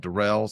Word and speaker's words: Darrell: I'm doing well, but you know, people might know I prefer to be called Derell.